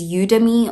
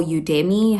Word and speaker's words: Udemy: The third one is Udemy or Udemy, however you pronounce it. I say Udemy.